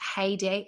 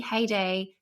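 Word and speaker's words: Haydée: but having looked up I think it's pronounced heyday Haiti cuz it's got an accent over the e heyday Tamara which is obviously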